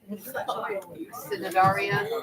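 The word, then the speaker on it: Cnidaria: I don't think you pronounce the C. Synodaria.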